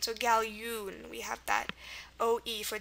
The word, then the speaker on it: galjoen: remember the ya sound, the J represents the Y in Dutch and Afrikaans.